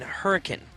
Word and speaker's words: Hurricane: ray shop in Hurricane depends if you're from Utah or not hurricane I have been uh punched in the gut a couple times that one so yeah I was say you say it wrong when you're there they they take offense to it it's a great area